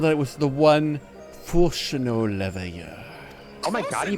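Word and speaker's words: Fourchenault Leveilleur: I was told that it was the one Fulchino Leveilleur. Oh my god, he pronounced it right.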